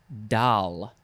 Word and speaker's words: dal: dish is called dal it is from the hindi and urdu word dal not to be confused with the doll the dolly you know the dolly parton your doll that you put to sleep your baby doll so many dolls word